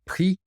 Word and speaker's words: prix: En français, le prix, and the X is silent.